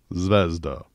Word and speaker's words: Zvezda: ceda from this brand ito yung tamang way to pronounce itong brand na to zvezda a Russian word that means star It's also the name